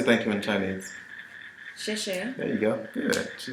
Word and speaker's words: 谢谢: 谢谢 There you go. Good. She did that one very, very well. Xie xie is very, very good.